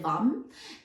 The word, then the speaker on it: vam: which I always remember it's spelled v-a-m but said vom I always remember it